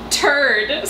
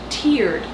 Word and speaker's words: Terde: this time that's bougie turd Sid Ava reading off the map your turn to sit food for one thing it's pronounced tiered and for another instead